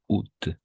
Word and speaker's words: août: mardi 1er août 2023 on prononce tout simplement août le premier jour du